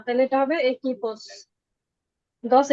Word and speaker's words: equipos: কু এর পরে উ থেকে তারপরে ই বা এ থাকলে ওইখানে উ এর উচ্চারণ হবে না, তাহলে এটা হবে একিপোস, 10 equipos de béisbol।